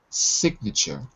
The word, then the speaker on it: signature: v for verb and the pronunciation is different sign it's what we call the long sound i like lion okay but as a noun it becomes the short sound signature you've got you've got